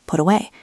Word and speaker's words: put away: Put away. The T input sounds like a soft D in American English pronunciation or a crisp T in British.